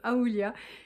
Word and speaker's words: Aoolia: Mais du coup quand j'ai été contactée par cette marque, je pense que ça se prononce Aoulia, je me suis dit